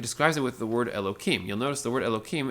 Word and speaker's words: Elohim: you say that word so the word is pronounced Elohim and the word actually means a plurality of